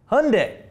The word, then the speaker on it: Hyundai: Hyundai.